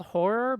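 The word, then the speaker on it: HO99O9: This person who sent in this music video from this band called, I guess it's called Horror, but it's spelled HO9909.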